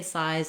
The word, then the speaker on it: size: you can get a good foundation for your pronunciation questions. Once I can say size and seize by themselves, I do want to